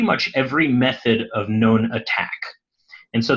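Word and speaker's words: ATT&CK: every method of known attack and so they call this the attack framework it's spelled a little weird the second a is an ampersand but if you search for mitre attack you'll find it very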